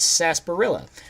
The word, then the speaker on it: sarsaparilla: yes they call it sarsaparilla which is actually written s-a-r-s-a-p-a-r-i-l-l-a so if you actually pronounced it as it is written it would be sarsaparilla not sarsaparilla that is a weird